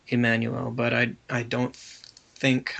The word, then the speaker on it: Jmmanuel: so it was um I think it was a j but it wasn't J it wasn't that J sound it was a e sound it was to pronounce the I the the letter I so Emanuel but I I don't